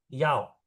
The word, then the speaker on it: 要: Yao itu mau. Yao. Nada 4 ya.